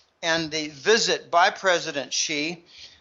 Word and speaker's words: Xi: There are numerous elements to the trip and the visit by President Xi. That's how you pronounce XI. It's like he, she, it, she, President Xi.